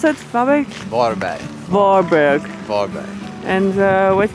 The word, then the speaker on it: Varberg: How do you pronounce it? Varberg?